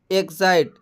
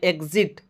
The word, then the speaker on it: exit: उसके बाद में यहाँ पर है EXIT, एग्जाइट। एग्जाइट इसको ना पढ़ करके हम इसको पढ़ते हैं एग्जिट।